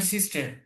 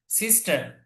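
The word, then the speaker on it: sister: আর আরেকটা হলো শি ইজ মাই সিস্টার, সিস্টার, সিস্টার, সিস্টার, র ছাড়া। তো দুই ভাবেই উচ্চারণ করে, একটা হচ্ছে ব্রিটিশ উচ্চারণ, আর একটা হচ্ছে আমেরিকান উচ্চারণ।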